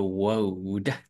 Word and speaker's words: world: But I think petrol is very expensive in other parts of the world. World. Cái từ này hay bị sai nè. Wow. World. Nó là âm Âu nha.